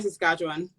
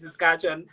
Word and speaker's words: Saskatchewan: I'm in Regina, Saskatchewan. Regina, Saskatchewan. Thank you for taking the time. Doi, I hope I pronounced it right.